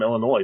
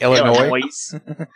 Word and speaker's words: Illinois: is a dinner like Illinois my god what why I have a letter that you're not going to say yeah like Collins that's